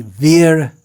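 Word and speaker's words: vīra: Veer, the sound at the end becomes dropped, or beer.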